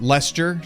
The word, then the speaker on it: Leicester: to cheddar oh lester it's lester les the british are weird with their their co like the blending of that last that's why no one knows